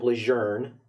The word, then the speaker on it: Lejeune: Camp Lejeune is the right way to say it. They actually did a whole message campaign trying to push that.